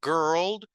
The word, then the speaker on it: girl: Y la palabra girl es la G. No hay una I, casi que no se pronuncia. Es como que si fuera la G, la R y la L. ¿Verdad? La R en inglés suena como ¿verdad? Entonces sería como la G y la R. Girl.